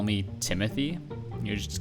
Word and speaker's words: Timothy: But a lot of foreigners are not actually able to say Timothy. They say Timothy. Yeah, Timothy, not Timothy.